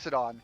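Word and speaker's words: Loxodon: at this elephant person cuz I can never pronounce that race to save my life. Locked. Lockxedon. Thanks you. Locked. Locked. Thank you. Alifont. Alifont. He'll look up at the Lockxodon and say, "We need we need a bath.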